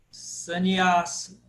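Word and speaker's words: Sannyāsa: Sannyasa. Por que sannyasa? Porque o A é longo. Sannyasa. Esse segundo A aí de trás para frente é longo.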